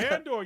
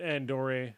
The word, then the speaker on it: Andor: Weekend he uh mispronounced or he said Andor right the first time but then also with the E on the other one he said andori like it was a